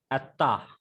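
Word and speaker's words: אַתָּה: So the pronunciation is Atta.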